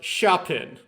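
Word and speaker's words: シャーペン: yeah yeah so they the Japanese borrow sharp pen from English and that's what they call a mechanical pencil it's pronounced shopin I know that word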